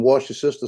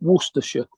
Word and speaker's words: Worcestershire: I made some of that Libby sausage sauce this morning and made biscuits, and I put some wash your sister sauce on it, and it tastes better.